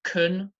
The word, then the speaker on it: can: cans can of drink can the verb pronounced kun the weak form the weak pronunciation cannibal and nibble okay